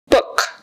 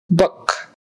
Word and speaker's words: book: advantage in this race book book that's a horseshoe U it's uh like someone punched you in the stomach it's not O It's Not O it's not a is uh book book I read the